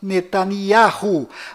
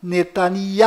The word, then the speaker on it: Netanyahu: bom volta no assunto fora de israel o nome deste primeiro-ministro é pronunciado benjamin metaniarro mas dentro de israel o nome dele é pronunciado benyamin netanyahu ao confira fora dentro